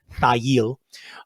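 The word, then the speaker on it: Thayil: and that is how his print name is pronounced thail uh hiro yamamoto and uh bruce pavett moved together from the chicago suburb of park forest to seattle thigh eel would enroll at the university of washington pavitt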